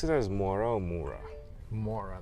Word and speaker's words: Mourra: Do you pronounce it as Mourra or Mourra? More, like, give me some more.